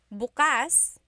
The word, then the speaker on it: bukas: If you say bukas buas the emphasis is on the second syllable that means open.